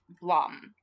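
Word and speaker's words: Blame!: um how's that spelled it's spelled like the word blame with an exclamation point but it's it's it's you know pronounced the word what blame exclamation point to pronounce Blom yeah because it's no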